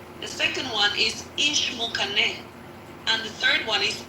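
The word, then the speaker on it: Ixmucané: But the way you pronounce them, so the first one is Ixinche. Ixinche. The second one is Ishmukane.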